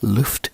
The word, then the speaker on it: Lueft: It is now Luft Crew, and the way that is spelled is LUEFT_crew, CREW.